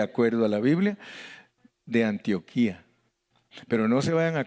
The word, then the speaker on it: Antioquia: que se llama antioquia ellos no le dicen antioquía le dicen antioquia yo no sé por qué los colombianos le dicen diferente a nosotros porque tiene acento en la última en antioquía pero ellos le dicen antioquia le ponen el acento en la primera y y les gusta